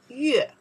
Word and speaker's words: 月: If only say this part, we have another character, we pronounce the 月, 月 means moon, right?